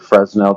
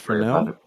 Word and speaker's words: Fresnel: difference between fronhofer and fresnell defraction hey you gone way over my head I'm sorry Fel isn't it pronounced Fel yes but then nobody can